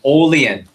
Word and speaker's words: Olean: Everyone repeat after me. Olean. Olean. One more time. Ready? Everyone. Olean. Olean. Good. Sometimes we mispronounce it and they say Olean. Right? It's Olean, New York.